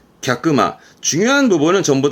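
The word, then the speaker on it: 客間: 발음은 갸끄마.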